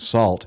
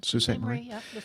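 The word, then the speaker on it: Sault Ste. Marie: uh to visit the Canadian Bushplane Heritage Center in Sous Staint Marie, Ontario, you definitely need to look up the pronunciation because it ain't Salt.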